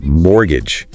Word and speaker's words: mortgage: We mentioned mortgage, that loan for property, and apparently the T is silent. That's right, mortgage.